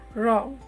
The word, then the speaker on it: wrong: a complete silent word next one wrong there is no use of w here so it is a silent letter wrong next one it is